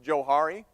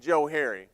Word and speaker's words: Johari: like it's probably pronounced Johari, but I pronounce it Johari because it was created by 2 guys. They're psychologists back in 1955. Their names happen to have been Joe and Harry.